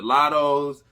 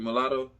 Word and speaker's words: Latto: Like, you want to get the Lottos, I said her name. Is it Mulatto? It's Lotto.